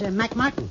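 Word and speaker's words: McMartin: you pronounce m c m-a-r-t-i-n m-c-m-a-r-t-i-n yeah that's mike martin all right now how do you pronounce m-c-g-o-n-n-e-g-a-l m-c-g-o-n-n-e-g-a-l-a you're not doing bad all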